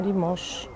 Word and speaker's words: Limoges: Limoges. Ale Limoges pisze się przez S na końcu, z tego co wiem.